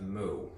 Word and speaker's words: mu: mean which uses this greek letter which is pronounced mu right that is again um why i had